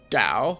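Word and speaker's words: Tau: explained he gave himself the name dao well it's t-a-u so you can pronounce it depending on where you're from which is interesting that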